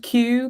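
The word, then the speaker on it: Kew: but we also have a garden called Q Gardens which is spelled KW which just adds to the confusion but it's also beautiful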